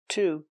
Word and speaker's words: to: Same preposition, to. He had an allergic reaction to peanuts. He had an allergic reaction to peanuts. Remember, to is pronounced t because it's not stressed in the sentence.